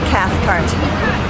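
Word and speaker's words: Cathcart: my name's hold on let me uh the cath cart okay from rowa Virginia um and can you spell cathart is spelled c a t h c a r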